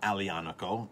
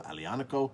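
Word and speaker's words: Aglianico: a powerful bold line made from alianico a-g-l-i-n-a-c-o alianaco the g is silent um we started this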